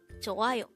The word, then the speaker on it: 좋아요: 좋아요. This is pronounced as a three-syllable word. The first syllable is 조 with an H, followed by an A, followed by ayo.